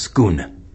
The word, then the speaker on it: Scone: But even in Western tradition, if you check out an interesting little item, it's called the Stone of Scone, which is actually pronounced Scone, S-C-O-N-E.